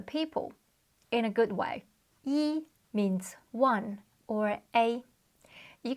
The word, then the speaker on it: 一: you can see here e is first tone however in this idiom in particular we pronounce it as fourth tone I don't actually know why it's just how we say it in this particular example as you learn more